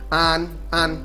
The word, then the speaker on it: ăn: All that means it's pronounced like as in father, an, and that means eat.